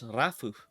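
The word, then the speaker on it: ラフ: rough this is lit this literally says rafu like r-a-f-u rafu so rough and this is black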